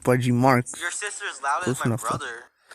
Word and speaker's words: Budgie Marx: It's pronounced Budgie Marx.